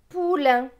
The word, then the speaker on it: poulain: P avec OU. OU c'est ou. P et ou, pou. L avec AIN. AIN c'est un. L et un, lin. Donc ce mot va se lire pou, lin. Poulain.